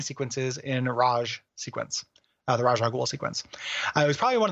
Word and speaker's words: Ra's al Ghul: So we got some feedback about our pronunciation of Ra's al Ghul. We were praised for getting it right, but over the course of the episode, we eventually started saying Rage al Ghul.